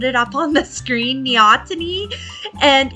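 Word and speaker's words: neoteny: stay in this aquatic stage, but it's called neotony. N E O T E N Y. I'll put it up on the screen. Neotony.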